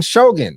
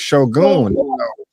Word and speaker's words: Shogun: I keep saying Shogun, but it's Shogun.